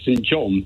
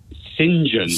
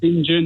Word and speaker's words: St John: well which you would you and I would say St John but but Oxbridge types pronounce singen they don't say St John yeah singen and and keys college